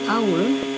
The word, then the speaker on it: hour: he lives in hotel in some words that begin with h the H is not pronounced instead the word begins with a vowel sound and earned his ears